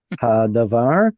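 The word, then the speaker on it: הַדָּבָר: Hadavar.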